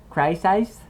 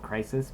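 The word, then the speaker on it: Crysis: I've also got a game called um Crisis. It's spelled C R Y S I S. I like it's I know it's called Crisis, but I like to say crisis.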